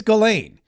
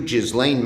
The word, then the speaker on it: Ghislaine: Maxwell, but he and by the way, it's Galain. It's Galain. They both mispronounced her name. Chuck Schumer did it. Sending Donald Trump's personal lawyer, Todd Blanch, to interview Jizlain Maxwell. Yeah, it's not Jislane, it's Galain.